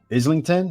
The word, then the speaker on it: Islington: We got John the Gorilla Ryder, 31 years old, 5'9", 72-inch reach, from Islington. Is that how you say that? My American pronunciation.